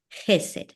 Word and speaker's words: Hesed: realidad es ch y la ch en hebreo es como el sonido de nuestra J. Por eso lo en español se lo escribí ahí para que pudieran tener una idea de cómo se ah pronunciaría y cómo se acentuaría. El acento iría en la primera e Jes.